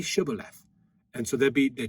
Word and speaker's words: shibboleth: unto them say now shibboleth and he said sybil left i can't say he has the he can't get the sh sound it's an s to him for he could not